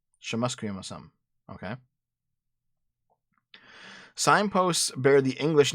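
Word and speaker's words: šxʷməθkʷəy̓əmasəm: He has lived on the now formerly named Trutch Street for 40 years, which now bears whatever the fuck this name is, pronounced Shamusquiasum. Shamusquiasum? Shamusquiasum.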